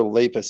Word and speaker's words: Lapis: I can't tell whether Lapis is actually being serious here or not. But it's pronounced lapis, like lapis lazuli.